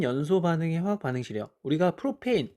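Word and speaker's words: propane: 옛날에 이 ANE를 안으로 읽었는데 지금은 애인으로 읽어서 메탄, 옛날엔, 지금은 메테인 이런 거예요.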